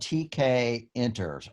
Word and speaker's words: Tkinter: it's called TK Inter's but it's spelled with an i int ER for like interphase and I really don't